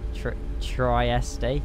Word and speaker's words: Trieste: nice Fox drop T it's pronounced Trieste Tri triy triy uh